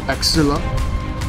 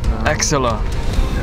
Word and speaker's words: axilla: What is the axilla? Huh? Spell it. Spell it. Why don't you spell it? A-X-I-double-L-A. A-X-I-double-L-A. Oh, yes. Can I say that right? Axilla. Yep. Axilla.